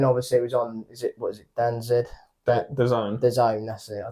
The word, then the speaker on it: DAZN: The Zone. The Zone, that's it. I don't even know how to pronounce it.